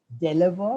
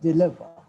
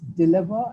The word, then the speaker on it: deliver: The pronunciation, there were some pronunciations which I say, we do not deliver, but we deliver. The break is, it's dill and not del. It's deliver and not deliver.